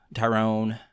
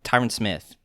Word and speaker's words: Tyron Smith: solid um then uh tyrone uh dang it what i get i get i keep i uh what's his name tyrone tyron tyron smith that's right i was saying his name wrong that's what i can